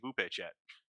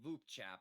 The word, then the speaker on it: VupeChat: It's only my second time using Bupe Chat. Well, I believe it's pronounced V chat, but yeah, I'm actually really I really like this platform, too.